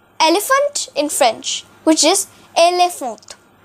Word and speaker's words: éléphant: This slash means that the E will not be pronounced as E, but it shall be pronounced as A.